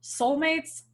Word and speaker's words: Seoulmates: You just got to search for Soulmates, spelled like the city in South Korea, because we're smart.